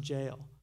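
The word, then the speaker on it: gaol: They spell jail, it looks like goal, G-O-A-L, even though it's pronounced jail.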